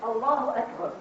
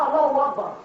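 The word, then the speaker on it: الله أكبر: It's the way it's said, Allahu Akbar, not Allahu Akbar.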